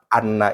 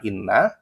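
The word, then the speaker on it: أنّ: Nah, sebenarnya poinnya di poin yang ini saja kita menjelaskan bahwa lafad anna itu dibaca anna bukan inna, ya.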